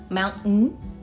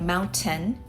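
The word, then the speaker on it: mountain: And Americans like to pronounce T differently like moun-n instead of moun-tain, in-ter-net instead of in-ter-net.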